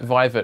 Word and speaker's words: Vivet: the name of vivek yeah viva could you spell that vivet i would say it's v-a-i-v-e-t so vivet um